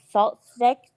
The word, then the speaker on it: SaltStick: Salt Stick, just as it's spelled, SALTSTICK.